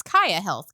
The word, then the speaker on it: Kaia Health: So I guess we're going to we're going to kick it off with uh so I'm going to make sure it's Kaia Health, correct?